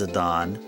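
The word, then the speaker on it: Zidane: I was enlightened by the fact that our protagonist name here in Final Fantasy 9 is Zadon.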